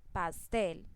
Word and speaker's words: pastel: Pastel, entonces tampoco tiene tilde pero tiene el acento en la sílaba tel, porque es la que pronuncio con más fuerza o es la sílaba más fuerte de esta palabra, pastel.